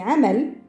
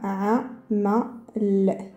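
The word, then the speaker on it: عمل: On va trouver le travail, par exemple, c'est amal. Amal, alors, on entend bien la lettre harf al-ayn.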